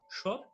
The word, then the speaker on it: সৎ: অর্থাৎ ত এর নিচে হর্ষচিহ্ন দেয়া মানে হচ্ছে ত এর সাথে যে স্বরধ্বনিটি রয়েছে সেটি উচ্চারিত হবে না, অর্থাৎ সেটি নেই।